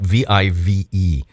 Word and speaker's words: Vive: Well, see, the thing is, and I do always ask you, Sally, I do apologize, but it's spelled V-I-V-E. And but it is Vive.